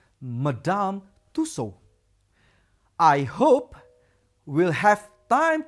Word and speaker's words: Madame Tussaud: we haven't been to madame tussaud or the natural history museum yet that is how we pronounce it madame tussaud i hope we'll have